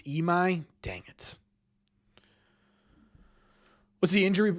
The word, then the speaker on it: Imai: Imai? It's pronounced Imai? I've been saying Imai.